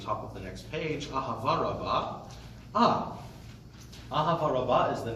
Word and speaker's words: אהבה: So the first one is more the Ashkenaz old school pronunciation, non-modern Israeli.